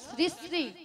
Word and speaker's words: শ্রী: আরে মাসি উনার নাম ছিড়ি ছিড়ি নয় বলো শ্রী শ্রী শ্রী শ্রী শ্রী শ্রী শ্রী কেন সারে গামা